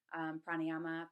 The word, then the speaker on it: pranayama: Usually you'll hear, so yoga, you'll hear it called yog, pranayama, pranayam, asana, asan, kumbhaka, kumbhak, bandhas, band.